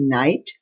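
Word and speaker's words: knight: word is के एन आई जी एच टी नाइट रात the silent word is जी एच एस ई आई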